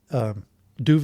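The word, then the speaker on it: Duvid: Doovovid is just the Yiddish of David. A lot of people, like in Yiddish circles, like Brooklyn or whatever, you would just spell it D-U-V-I-D.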